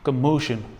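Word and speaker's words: commotion: ये एक्चुअल में इसको बोलना चाहिए कमोशन.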